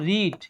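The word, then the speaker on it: read: তাহলে এখন বলো তো আমাকে, এখন বলো তো, রিড এই ভার্বের V3 কি?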